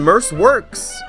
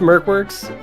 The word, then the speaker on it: MercWorks: have uh shin and merce works how you guys doing good it's it's pronounced merc works i uh my my